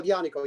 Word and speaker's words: Aglianico: nobody shows like love like uglianico pronounce it uh yanico yes that's a great